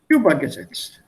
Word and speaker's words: übergesetzt: If I take this here, then I will say übergesetzt. I put the stress on the first one.